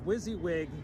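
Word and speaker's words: WYSIWYG: uh wizzywig tv yep what you see is what you get is pronounced wizzywig tv yeah yeah can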